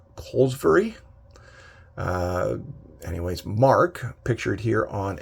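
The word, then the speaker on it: Kolozsvary: Mark, I believe his last name is pronounced Colesbury.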